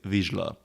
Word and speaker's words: Vizsla: the correct pronunciation is vizsla. Z & S together in Hungarian is "zsé", just like in my name which is.